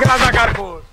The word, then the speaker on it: রাজাকার: ঠিক কাক রাজাকার ঠিক ফাইজলাম রাজাকার এটা আমাদের তোকমা নয় এ রাজাকার এ ডিগ্রি আমরা ডিকশনারি পরে দেখেছি রাজাকার শব্দের অর্থ হল এটা উচ্চারণ হবে রেজাকার রেজাকার শব্দের অর্থ হল সাহায্যকারী